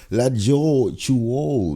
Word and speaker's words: Latjor Choul: We've got Latjor Choul.